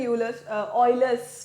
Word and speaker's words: Euler: तो हम भी Euler's बोलेंगे और कभी मैं ऐसा बोल भी दूंगी, पर आपको ध्यान रखना है कि ये Euler's formula होता है, ठीक है, राइट। इसका प्रोनाउंसिएशन ऐसा होता है।